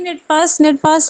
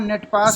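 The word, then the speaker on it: Netapps: पहली हेलो बात तो कंपनी का नाम नेट पास सर, नहीं नेट है। पास। 1 सेकेंड, प्रोनाउंस करना सीख लीजिए। ये नेट पास नहीं नेटॉप्स। है, नेटैप्स है।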